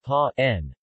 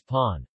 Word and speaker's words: paan: For example, the word pa n, bread, is written as pawn. This convention, however, may cause some confusion among non-expert speakers of the language. Instead of a long vowel, they might parse the VV grapheme sequence as two vocalic segments with a glottal stop.